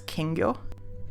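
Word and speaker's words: きんぎょ: So this word is pronounced more or less as kingyo. What can be seen is that as part of the script there is this character, which is simply the consonant n by itself.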